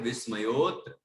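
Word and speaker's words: विस्मयोऽत्र: हाँ, देखिए, को विस्मयोत्र, वो अवग्र चिन्ह है, बोलना मत उसको, तो बोलना ही नहीं अवग्र चिन्ह को, आ भी मत बोलना उस जगह पे, है ना? डायरेक्ट विस्मयोत्र, विस्मयोत्र, ठीक है?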